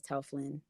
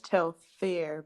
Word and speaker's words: Telfar: are saying tell flock i thought it was tell flynn tough flaw it's very much tell fair but talk fair tell